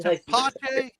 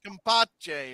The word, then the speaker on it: tepache: Tepache? Tepache. It's T-E-P. Yes, tepache. It's pineapple syrup. With a K. If it starts with tepache. Tepache. All right. No, I always thought you were saying compache or something.